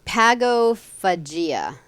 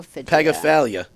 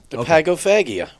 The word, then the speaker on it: pagophagia: do other things too I hope I'm pronouncing it right p-a-g-o p-h-a-g-i-a Pago pagophilia there's no l in it though oh didn't you just